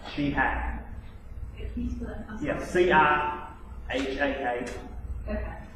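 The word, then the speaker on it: Cihak: Her last name is spelled C-I-H-A-K, but it's pronounced she, like S-H-E-H-A-K. Sheehack.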